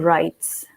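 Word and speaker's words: Rites: facebook page is rk rights so it's rk space r-i-t-e-s i'm a bit of a rebel um i thought well we don't pronounce the w why should i even write it so i said okay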